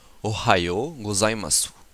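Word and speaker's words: ohayō gozaimasu: Nous avons ici le O, le ha, le yo, u, go, za, i, ma, su. Ce qui donne Ohayo gozaimasu.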